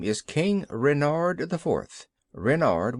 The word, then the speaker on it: Renard: King Renard I fourth Renard with the accent on the ren what's Ren asked button